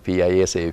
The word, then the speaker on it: PISA: If you pronounce incorrectly, people who are not in education may think that it's a kind of food, but it's PISA, PISA, and 2012 and PISA